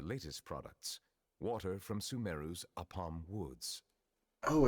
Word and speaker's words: Apam: Here is one of their latest products, water from Sumeru's Apam Woods. Oh, it's a palm? I didn't realize that's how you pronounce it. I thought it was Apom, like the Pokemon.